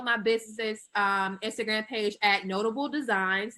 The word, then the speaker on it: Knotable: And you can follow my business's Instagram page at Notable Designs. That's with a K. The K is silent.